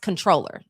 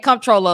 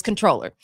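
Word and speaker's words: Comptroller: I know Comproller uh Comproller is spelled C O M P T R O L L E R, but it's pronounced controller.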